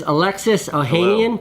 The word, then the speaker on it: Alexis Ohanian: This is Alexis Ohanian.